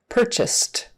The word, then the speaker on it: purchased: a D um and this one is a t because s is unvoiced so we make the unvoiced T follow it purchased purchased e other so